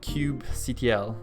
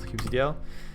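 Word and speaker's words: kubectl: please there we go most people use something called cube ctl i'm sure that's a better pronunciation of this or the way you say it i call it qcdl and that's kind of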